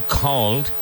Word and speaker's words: called: You called who I called. You called who I called. Called is one syllable.